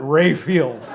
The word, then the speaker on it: Raphael's: I just realized that it was only because we were in Wisconsin that we pronounced it Ray Fields.